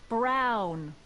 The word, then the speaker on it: Brown: bill to a tee that's Emmett Brown rhymes with clown which I'm beginning to